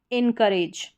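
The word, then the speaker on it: encourage: इसको पढ़ेंगे। इ एन इन फिर करेज। इनकरेज इनकरेज। ठीक है? अब यहां पर जो यह ओ यू है इसका अ साउंड हो रहा है। यानी अ साउंड प्रोनाउंस हो रहा है ओ यू का।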